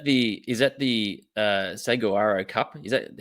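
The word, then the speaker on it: Saguaro: Is that the is that the uh, Seawarro Cup? Is that how you pronounce it? Yeah, the Swaharo Cup. Suaro Cup.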